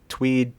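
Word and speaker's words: TUIDE: And I know about our birthday and Tweed, Tweed, Tweed. I I still don't know how to pronounce that.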